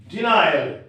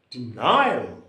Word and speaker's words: denial: accented remember it for example denial denial d 9 all there are three syllables that is a tri Slavic one then why shall you give the stress at the middle syllable nine denial denial denial so if